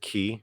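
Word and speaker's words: 기: Well, I pronounce it ki because I'm Korean. Chi is actually the Chinese word. Ki is the Korean and Japanese word.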